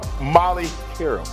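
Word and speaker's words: Molly Qerim: Stephen what's up baby and you are Molly Carol yes you said it right day two it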